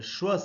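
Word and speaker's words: schwa: और उसका नाम भी है उसका नाम है श्वास साउंड शव की स्पेलिंग होती है एस सी हा डब्लू ए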